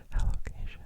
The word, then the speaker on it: Alocasia: Aloia or Aloia. Personally, I prefer Aloia. Aloia. Aloia. But I think Aloacia is technically the proper pronunciation.